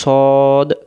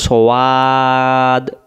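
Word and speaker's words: صاد: আর আমরা পড়বো না এই অক্ষরের নাম হলো সদ মুখটা গোল হবে সদ আর যদি আমরা বলি সওয়াদ মুখটা ফাঁকা হয় হয়ে যাচ্ছে তখন এর উচ্চারণটা ভুল হয়ে যাচ্ছে তাহলে আমরা কি বলবো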